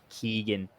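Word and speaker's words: Keoghan: I say Ken but I've seen in interviews that he pronounces it like Keegan or Keegan like something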